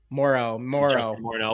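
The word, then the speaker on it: Moreau: Moro without the N.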